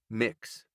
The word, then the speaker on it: Mx: me to elaborate and the MX onorific is pronounced mix Dante Taps on his